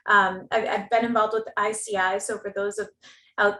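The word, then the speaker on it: ISEAI: and you know um i've been involved with ici so for those of out there who aren't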